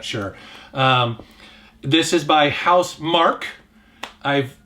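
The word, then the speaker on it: Housemarque: um this is by house mark i've in the past i've mispronounced their name as marquis but it's mark they they do next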